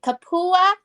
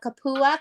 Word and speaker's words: kupua: pronounce that wow we we have to pronounce that extra a because Hawaiian knows how to pronounce all of their letters in word okay see we can't